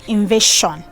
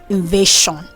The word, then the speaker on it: invasion: S before the ION, people mispronounce that S as sh instead of saying j. Examples are number 10 is invasion. Invasion.